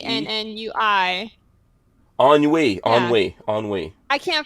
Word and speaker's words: ennui: Ennui. Yeah, Ennui. Ennui. I can't pronounce things.